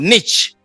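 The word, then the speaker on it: Nietzsche: back to the philosopher nit I think is pronounced Niche what would be the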